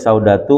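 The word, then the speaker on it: سودة: waramlah dan seterusnya itu bacanya saudatu waramlatu yuqroani biri tanwinin ya dibaca tanpa menggunakan tanwin waquluhu juwairiah dan ucapan syiir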